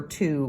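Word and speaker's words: two: Now, we don't really know how to write the number 2 word. And it's funny because it actually has a W in the middle, which is silent.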